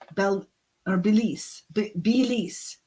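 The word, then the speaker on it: Belleek: But in 1849, John Caldwell Bloomfield inherited his father's estate in a small market town of Belique, or Belize, Belize, as it's pronounced, which means flagstone forge in Ireland.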